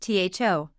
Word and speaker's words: though: a completely different way take though for example ah yes though is a real head scratcher it's pronounced tho but you'd think it would sound like th there's no logic to that English loves to play